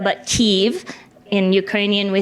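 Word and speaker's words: Kyiv: is ke ke the capital city and we pronounce it not KV but ke in Ukrainian we say ke so from now on just say ke and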